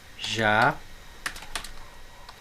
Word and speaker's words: jacaré: Ó, jacaré. Vejam que a sílaba tônica é o ré, ou seja, a sílaba tônica é a última.